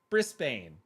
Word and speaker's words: Brisbane: Americans always say Bane. Yeah, Brisbane.